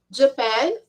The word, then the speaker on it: Japan: direto na made in Japan japanese in ei ei e observando que a pronúncia deste país é a sílaba tônica é na segunda sílaba não é na primeira em então a gente